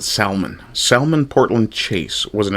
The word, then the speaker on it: Salmon: Sal, sorry, I'll pronounce it Salman.